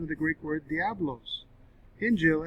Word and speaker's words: Injil: the greek word diablos injil and more phonetically or more phonetically in english injeel is properly spelled in